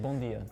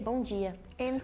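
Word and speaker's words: bom dia: is yeah it's di in Portugal we say bondia in Brazil we say Bonia I love the difference in pronunciation bondia and Bonia as we said bjo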